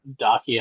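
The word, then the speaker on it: Dacia: And uh Dakia, I believe is the correct uh pronoun pronunciation.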